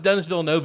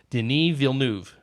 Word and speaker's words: Denis Villeneuve: Denis Villeneuve which is he's now it's not pronounced Denis Villeneuve it which I think I've said several times on the podcast I actually looked it up and found out no it's pronounced Denis Villeneuve yeah those fun interesting gradual and he also